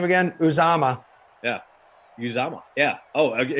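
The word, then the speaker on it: Uzomah: six catches are you say his name again uzama yeah uzama yeah oh okay and so we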